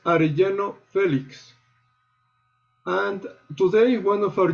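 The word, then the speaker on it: Arellano Félix: And finally, the cartel is pronounced Arellano Felix.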